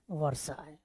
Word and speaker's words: Versailles: Treaty of वर्साय, spelling देख लीजिएगा, VERSAILLES पढ़ेंगे वर्साय।